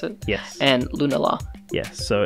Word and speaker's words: Lunala: Is that how you pronounce it? Yes. And Lunala.